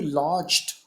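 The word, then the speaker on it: lodged: यू लॉज्ड eight Raj gardens. आप ठहरे, state इसका मतलब है. लॉज्ड, डी जी को ज बोलेंगे, सिर्फ टी साइलेंट हो गया.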